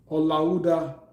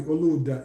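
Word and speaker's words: Olaudah: The other one was Olauda Equiano. And I think the correct pronunciation might be Oluda Equiano.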